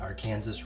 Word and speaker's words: Arkansas: We're starting off in this area because it's right where the Arkansas, and that is how the locals pronounce it, Arkansas River separates that district and the downtown.